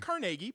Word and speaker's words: Carnegie: Carnegie? It's pronounced Carnegie, but yes.